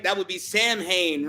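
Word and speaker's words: Samhain: you're you're paying him right that would be Sam Hayne right that's how you say it because don't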